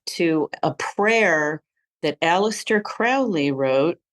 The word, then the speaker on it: Crowley: a prayer that Alistair Crowley wrote sorry Crowley got to get the pronunciation right that we Americans tend to say it wrong that Alistar Crowley wrote